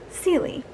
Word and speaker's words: Celie: makes sense oh celie it's spelled c e l i e c lee but i could not figure how the heck to say it until i figured out her name her full name is cecilia and i was like oh